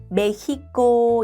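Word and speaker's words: México: 사실 멕시코인데요. 이거는 예외 발음이어서 멕시코의 진짜 발음은 메히코. 입니다.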